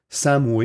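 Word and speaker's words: Samhain: britannique à l'origine de la fête ça se prononce sa moue et mais ça s'écrit saint mayme la prononciation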